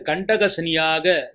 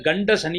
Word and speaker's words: கண்டக சனி: இந்த வருடம் உங்கள் ராசிக்கு கண்டக சனியாக சனிபான் உங்கள் ராசியை பார்விடுகிறார் நிறைய பேர் கண்ட சனி என்று தவறாக உச்சரிக்கிறார் இது கண்ட சனி அல்ல கண்டக சனி கண்ட சனி என்பதன் அர்த்தம்